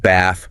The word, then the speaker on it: bath: So take words like bath, path, dance. In standard American English, these usually have that flat a sound like in cat. So ba, pay, dens. Okay. But in British RP, these specific words and others like them often take a different vowel the longer it is sound like the a in father.